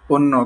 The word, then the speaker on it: অন্য: অন্য। কারণ কি? আচ্ছা, কারণটা তো বলা হয়নি। হ্যাঁ, অধ্বনির পর যদি ঝ ফলা থাকে, কি ফলা থাকে ভাই? ঝ ফলা থাকে, তখন উচ্চারণটি ও এর মতো হয়, যেমন অন্য, অন্যান্য, হ্যাঁ।